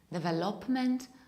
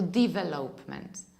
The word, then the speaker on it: development: number three is this one majority of people pronounce this word like the velopment or the velopment or developments know the correct pronunciation is development or in